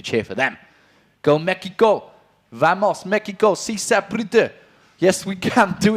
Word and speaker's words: vamos: you're French yes but I know how you pronounce bamos okay bamos bamos how about stop talking